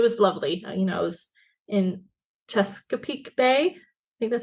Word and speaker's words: Chesapeake: I was in Chesapeake Bay. I think that's how you say it. Yeah, Chesapeake.